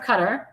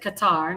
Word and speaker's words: Qatar: He said, I've been asked by the Emir of Qatar, or Qatar. That's how you said Qatar, not Qatar. Qatar. That's how the Arabs pronounce it. It's Qatar.